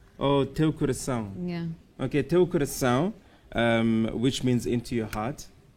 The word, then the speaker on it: teu coração: Teu Teu coração. coração. So there's that little mark on the bottom of the C Yeah. makes us sound. So it's teu coração. Oh, Teu coração. Yeah. Okay, Teu coração, which means into your heart.